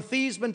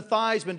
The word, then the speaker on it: Theismann: think by just simply changing the pronunciation of your last name from thian to thyman to Ryme with Heisman we can guarantee you